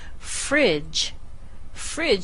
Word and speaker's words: fridge: So this is pronounced exactly the same as that second syllable. Fridge. Fridge.